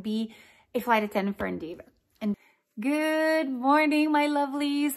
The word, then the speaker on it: Endeavor: And the name of this airline, now correct me if I'm wrong, because I might, with my accent, not pronounce this well, Endeavor, E-N-D-E-A-V-O-R.